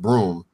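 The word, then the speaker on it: Bruttenholm: and everything like that route in the home pronounced broom was killed off in the killed off early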